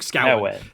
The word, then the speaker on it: Scowen: So my name is Luke Scowen, like Cowen. Luke Scowen. The amount of people that pronounce it Scowen, it does my nuts.